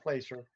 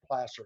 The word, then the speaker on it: placer: About the placer gold deposits, not placer, placer, spelled the same.